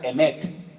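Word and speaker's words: אמת: Se pronuncia emet.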